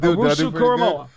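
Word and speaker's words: Owusu-Koramoah: Owusu Koramoah.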